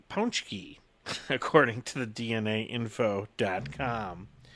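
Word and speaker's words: pączki: Tuesday each year and to clear up any confusion on how to pronounce Pooja you should be saying punch key according to the DNA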